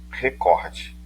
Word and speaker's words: recorde: a palavra o recorte muita gente fala recorde mas o certo é recorde inclusive ouça palavra pronunciada